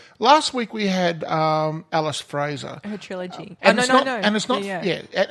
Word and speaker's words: Fraser: week we had Alice Fraser trilogy and it's not phrase here as I was pronouncing it it's just Fraser no III every time